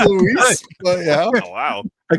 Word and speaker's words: Louis: Very briefly, and introduces him as Louis Dante. It's pronounced Luis, but yeah.